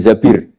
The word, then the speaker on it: Zabir: nikah sama Abdurrahman bin Zabir di hadis ini bukan bacanya bukan Zubair tapi zabir Abdurrahman bin Zabir tapi